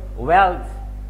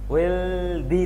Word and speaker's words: wealthy: ওয়েলথ সম্পদ, possession দেওয়া যেতে পারে, একটু আগে যেটা আলোচনা করলাম পজেশন, পজেশন মানেও কিন্তু সম্পদ হতে পারে। ওয়েলথি, ওয়েলদি না, ওয়েলদি উচ্চারণটা ভুল। ওয়েলথি বিত্তশালী, রিচ মানেও বিত্তশালী।